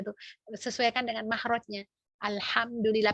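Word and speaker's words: الحمد لله: Alhamdulillah pakai ha, bukan pakai ha ya. Kalau ha tuh hak besar, artinya beda lagi.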